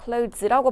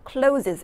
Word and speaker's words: clothes: clothes라고 발음하셔야지 clothes 이렇게 발음하시면 안 돼요.